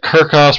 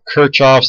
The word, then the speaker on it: Kirchhoff: Kirchhoff's laws okay so Kirchhoff some people call pronounced at kerckhoffs probably more common to call it Kirchhoff's then lots of debate